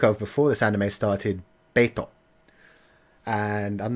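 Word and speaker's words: Bete: And I'm not really sure how to pronounce his name either, because it's written B-E-T-E, but pronounced Beto. So I first thought it was going to be Bait, like B-A-I-T, but I don't know. It's pronounced Beto, written B-E-T-E.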